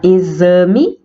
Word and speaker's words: exame: som de s e na palavra exame o x tem som de z a palavra ganhar é